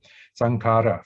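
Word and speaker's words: saṅkhāra: If you don't know Pali, you say, oh, k. No, but if you know Pali, you say it's kh. It's one ligature. That's one letter actually. In Pali, in Indian script, it's one letter, but in English, we don't have that kind of letter, so we put a H there to make it a plosive.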